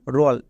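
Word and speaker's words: role: টি ই পেলেই ওট এবার দেখে নেব শব্দের শেষে ও এল ই থাকলে অল হয় যেমন রল এখানে দেখো শব্দের শেষে ও এল ই আছে তাই এর জন্য অল হবে আর রো আর এর জন্য রো তাহলে রো প্লাস অল রল রয় ওকা ল রোল ঠিক একই রকম ভাবে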